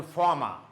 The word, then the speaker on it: former: One more thing you must remember, if there is R, R-E-R-R-E at the end of syllable. Say, for example, former, yeah, R, former. Say, for example, former. It has got two syllables, for and more, mud. Now, R in the end of syllable, it's silent, okay?